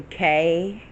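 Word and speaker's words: Koi: Her name is actually Kay. spelled K-O-I. From her culture, that pronounces K.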